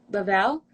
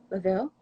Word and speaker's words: Lavelle: I took two through, if you know Rebecca Lavelle, Laville, I've heard it pronounced Levi, but we'll have to check with Levi. her. Yes, it's Levi. Sorry.